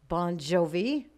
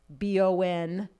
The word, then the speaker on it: Bongiovi: the regular so it's he just phonetically spelled it for the band b-o-n-j j o-v-i bon jovi because it's hard to screw up when it's b-o-n like yeah jovi you can sound it out like booked on five